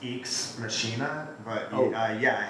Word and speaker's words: Ex Machina: you see the film it's pronounced eeks machinae mistaken so he goes was